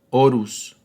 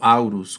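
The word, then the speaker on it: Horus: postumamente a su hijo, Orus o Aurus, como se pronuncia.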